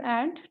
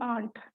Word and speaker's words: ant: So please pronounce it as ant, don't aunt, no aunt.